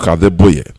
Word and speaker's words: Adeboye: Pastor Adeboye. Somebody corrected me, my pronunciation. That is it. Enoch Adeboye.